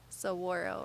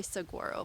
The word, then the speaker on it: saguaro: many ARMs probably and a lot of people mispronounced their name hey Monet do you know what that cactus is called right there this one is so whirl right some people say Saguaro but that's not right oh look here's another